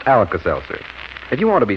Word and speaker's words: Alka-Seltzer: t z e r spells relief although it's pronounced alas Elser if you want to be scientific about it